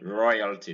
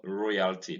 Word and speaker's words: royalty: occurs in o y gaining royalty this is not royalty this is royalty and in loyalty you